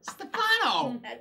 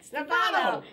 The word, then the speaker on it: Stefano: The other and fastest on the other syllable. Stefano. Stefano.